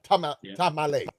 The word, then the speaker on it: Tamale: And that's exactly, so that was in Tamale. Tamale.